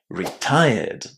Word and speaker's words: retired: And when we attach the ed ending to retire, we don't add any extra syllables. We simply keep the original pronunciation of the verb retire and add the d sound at the end.